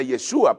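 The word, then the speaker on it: ישוע: dice o se pronuncia yeshua porque la jota en el hebreo no existe Así que yeshua yeshua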